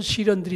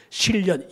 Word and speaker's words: 시련: 자 광야길에서 대체적으로 어떤 시련들이 있을 것인가 세 가지로 요약해서 간단히 말씀드리고 말씀을 좀 칠까요 첫째로 시련이라는 거 시련 시련은 발음을 잘해야 돼 실련 연애에 실패했다 그런 시련이 아니고 어쩔 수 없이 영어를